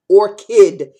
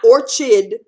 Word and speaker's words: orchid: a flower is is I D is ID or kid is a flower orchard apples are a rd